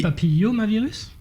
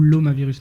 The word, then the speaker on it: papillomavirus: Papillomavirus ou l'omavirus? Non, c'est papillomavirus.